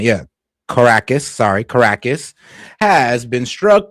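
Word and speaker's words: Caracas: Venezuela early this morning, the capital city of Carcus or well, just making sure I pronounce Yeah, Caracus.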